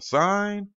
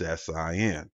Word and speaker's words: sin: so the abbreviation for sign is s-i-n now mind you that's not pronounced sin it is still just an abbreviation for the word sign for cosine c o